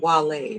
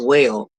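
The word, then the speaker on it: Wale: That's a song from Wall, right? I I just learned how to pronounce the name. I thought it was whale, but apparently it's Wall and Easy Baby, I never made it was that.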